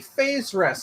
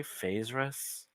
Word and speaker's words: Faerzress: And you say, have you come into contact with any phase rests since you've escaped from what I assume are your drow captors? What word did he just say? Phase rests? Phase rests. Faezzress.